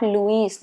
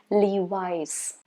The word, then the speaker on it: Levi's: i have for you is levi's not levis no not not louise no levis and you see there